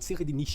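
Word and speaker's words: Tserriednich: o nome desse cara, mas considerando que é um nome que ele foi feito pra ter uma pronúncia alemã, seria algo como Seridonihi. Mas todo mundo chama de Seridonihi e é mais fácil, então vou chamar ele assim, tá bom?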